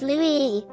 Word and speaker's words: Louis: The French name Louis, pronounced Louis, is derived from the Germanic name Ludwig, meaning famous in war.